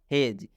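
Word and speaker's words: hedge: तो इसको हम लोग पढ़ेंगे हेज। इसलिए डी के बाद जी है। यूं कहूँ तो जी से पहले डी आता है तो डी साइलेंट हो जाता है, डी का उच्चारण नहीं करना है।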